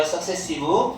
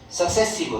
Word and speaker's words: successive: 그래서 많은 요거 스펠링 조심하세요. successive. 우리 조심할 거 많다 얘들아. successive.